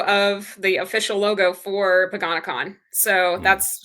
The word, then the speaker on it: Paganicon: And that is the logo of the official logo for Paganakon. So that's how I pronounce it. Um some people pronounce it pag uh pagan icon.